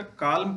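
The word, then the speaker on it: column: जैसे autumn, him, कॉलम, कॉलम, ये सब वर्ड ऐसे हैं कि जिसमें एन का उच्चारण नहीं करते हैं।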